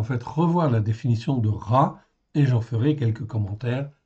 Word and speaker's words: רע: Donc le mot raci aï en fait ici ça se prononce ra en fait ici c'est un mot très important dans la Bible.